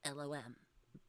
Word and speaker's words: LOM: So, but yeah, that's how it's pronounced is LOM.